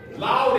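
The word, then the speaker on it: Lawd: Loud is spelled L-A-W-D.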